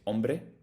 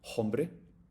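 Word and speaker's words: hombre: or silent letters so we don't pronounce the h in the beginning you say ombre not hbre same as French but other than that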